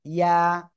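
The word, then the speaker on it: ي: এই যে অক্ষরটা, এই অক্ষরটা জিহ্বার মধ্যখান তার বরাবর উপরে তালুর সাথে লাগিয়ে সিম্পল এক আলিফটা নিয়ে উচ্চারণ করতে হবে। ইয়া, ইয়া, ইয়া, ইয়া। ঠিক আছে? ইয়া, ইয়া এভাবে বলা যাবে না।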